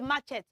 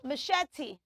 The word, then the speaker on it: machete: in the garden so it is not matchet say machete Mach machete very good I